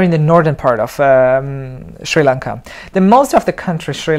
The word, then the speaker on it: Sri Lanka: with the local, and I always thought that you're supposed to say Sri Lanka because that's how you say it in English, but luckily you told me that it's Sri Lanka, that's the correct word.